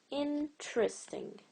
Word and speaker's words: interesting: I'm not pronouncing this E, I'm not saying interesting. So it only has 3 vowel sounds, hence it's only 3 syllables or trisyllables.